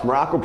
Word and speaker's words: Maroko: I am Coach Maroko, pronounced just like the country, spelled absolutely, positively, totally, completely, and endlessly.